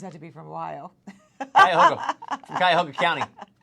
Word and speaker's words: Cuyahoga: And Amanda pronounced Cuyahoga County how? I don't remember. Cahugiha.